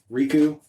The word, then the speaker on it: Rikuo: Because Harley-Davidson sold Riku. I believe that's how it's pronounced, and I'm probably wrong. It's Rikuo. Rico. Rico's something different.